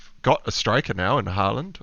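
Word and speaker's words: Haaland: a striker now in harland or horland as i think it's pronounced uh so foden will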